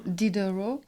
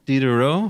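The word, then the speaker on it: Diderot: Dero. Dero. How do you spell that?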